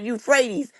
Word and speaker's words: Euphrates: Oh, it's pronounced you fre Oh, the Euphrates.